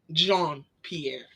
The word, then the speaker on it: Jean Pierre: I butchered it yeah my name is Jean Pierre John Pierre so I I was